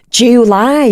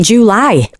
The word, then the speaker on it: July: saying it like that July July it's like she's put two July July July July it is one syllable but she's gone July and so what I